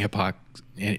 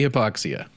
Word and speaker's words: hypoxia: thing happy hypoxia yes i was just making sure you didn't mispronounce the like you were saying epoxy okay what is happy hypoxia happy hypoxia is this